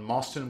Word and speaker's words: Mostyn: I'm joined by John Mostyn, which rhymes with Boston.